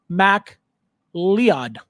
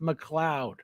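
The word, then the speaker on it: MacLeod: uh Conor M who McLoud McLoud but it's spelled like m a c l e o d ma lead ma lead but it's pronounced McLoud um Ralph mcar concept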